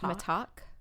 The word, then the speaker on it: Mittack: It's spelled T-A-C-K like tack, but I think it's pronounced Mittack.